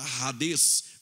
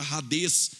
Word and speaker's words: Hades: escreve Hades com H, mas o H no grego tem som de R, assim como o hot dog em inglês, assim como também a maionese Hellmann's. Logo, a palavra Hades, quando ele se deparou